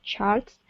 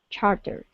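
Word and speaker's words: Chartres: very Gandy if he tried to sound out Chart Street saying it like charts she would testly insist that it was pronounced the charter even though it wasn't even spelled like that New Orleans was confusing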